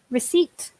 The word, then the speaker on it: receipt: be careful with pronunciation so rest if P three syllables receipt two syllables say a recipe and